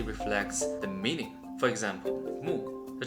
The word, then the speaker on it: 木: For example, moo. The Chinese pronunciation is moo and in Japanese we call it k like in the word suzuki.